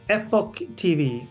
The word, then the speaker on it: EpochTV: And then it's going to be on, I hope I pronounce this right, EpochTV. Is that, how do you say that? EpochTV.